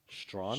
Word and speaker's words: Strachan: Strawn is spelled Strachan. Strawn. Strawn.